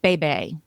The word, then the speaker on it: Bébé: book called Bringing Up Bébé. Say it like Catherine O'Hara from uh Schitt's Creek. Bébé.